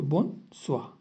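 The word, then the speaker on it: bonsoir: के लिखा है क्योंकि कभी भी ओ एंड आई आएगा तो उसको वा प्रोनाउंस करेंगे स्वा सो बोन स्वा आगे चलते हैं इंट्रोडक्शन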